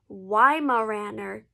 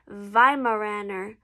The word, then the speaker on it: Weimaraner: In American English, we would pronounce it Weimaraner. But if you want to say it the traditional German way, you would say Weimaraner.